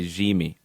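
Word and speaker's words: Yimmi: this out as well they are going by G me so the Y is AJ sound and it is G me Chara a player that Portland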